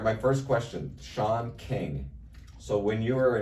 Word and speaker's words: Sean: kinging uh you know it's spelled sea in so they'd say the teacher would read off the name she'd say C Cen King who's that yeah that's Sean yeah wasn't too bad